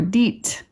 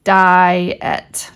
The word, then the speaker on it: diet: There's tricky ones like diet. Kids might go, ah, I see IE, right? They want to say, oh, that's diet or deet or something, right? But actually not in this case. In this case, the word is diet, diet. It's actually two vowels.